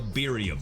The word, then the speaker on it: birria: tacos are, or excuse, let me say it like the Latinos would say it, depending on if you're male or female. Birria. Okay, I think that's how you do it. Birria. You gotta kind of roll your R's.